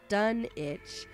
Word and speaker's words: Dunwich: Although the English town is pronounced Dunwich, similar to the Rhode Island Greenwich, Lovecraft never specified how he preferred his Dunwich to be pronounced, Dunwich or Dunwich.